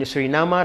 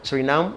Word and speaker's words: Suriname: minister of tourism in surinama like you call it sorry we are pronouncing it as Suriname so surinama now we know it's a surinama so what does your